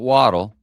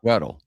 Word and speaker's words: Weddle: You know, not Waddle. No. Weddle. Wait, did I say it wrong? No, you said it right. It's not Waddle would make way more sense. It would. Why did they name it Weddle? I believe it's Weddle.